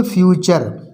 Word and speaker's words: future: टी का दूसरा rule है, टी का उच्चारण चा होता है। जब किसी शब्द में टी के बाद URE आए या UAL आए तो टी का उच्चारण चा पढ़ा जाता है। जैसे FUTURE, इसमें देखो यू टी के बाद क्या आया है URE, तो इसको बोलेंगे फ्यूचर। टी का उच्चारण चा निकलेगा, भविष्य।